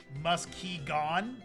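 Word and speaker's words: Muskegon: Also, as a past hooer now, Michigander, Muskigan is pronounced musky gone.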